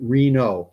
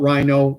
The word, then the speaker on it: Reno: And Anarchy gives me the pronunciation Reno, K Reno. Okay, not Rhino, Reno.